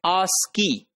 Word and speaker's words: ASCII: Code for Information Interchange, that is called ASCII, and that is pronounced as ASCII.